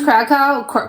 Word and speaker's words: Kraków: It will never be a no matter how hard it Oh, that's how you pronounce Kraków Kraków?